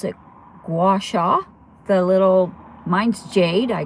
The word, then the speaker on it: gua sha: But as far as my face, I've been doing face yoga, and then I got the, I pronounce it gua sha, the little, mine's jade.